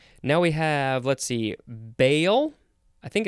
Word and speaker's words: Baal: Now we have, let's see, bail. I think it's how it's pronounced.